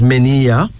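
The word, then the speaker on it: Miniya: Menia. Menia. M-I-N-I-Y-A, pronounced as Menia.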